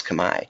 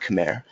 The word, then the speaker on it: Kamiya: name was Kamiya but I even can pronounce kamae not Khmer awesome alright so let